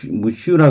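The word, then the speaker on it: monsieur: 영어로는 뭐, seer. 이렇게 발음을 해요. 뭐, sheer. 이렇게 발음을 하는데, 이게 영어의 미스터, sir에 해당하는 프랑스어 경칭인데요. 영어 발음이니까, 이게 뭐 영어로 쓰여졌으니까, 뭐 쉬어 이렇게 발음한 게 맞는 건 한데 우리는 그냥 무슈라 그러죠.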